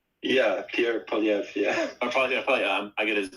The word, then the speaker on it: Poilievre: Are you talking about Pierre Duvier? Yeah, Pierre Poilievre. Yeah, Poilievre. I get his name wrong.